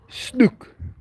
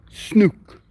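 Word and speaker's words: snoek: n o e k we use that o e as a ooh sound snook Deborah has also been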